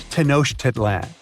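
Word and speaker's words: Tenochtitlan: It's Tenoshedlan. And Mayan cities are hard to pronounce, too.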